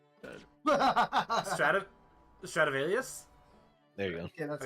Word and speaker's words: Stradivarius: your Stratovis, Holy? Was that safe and secure? Wait, how did you pronounce that? Stop, stop, stop. How'd you Yeah, pronounce yeah, can we back trace Stratovus? that? Stradivarius?